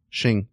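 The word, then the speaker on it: Qing: the Tang Dynasty also how do you pronounce this q i n g shing shing okay uh the Shing Dynasty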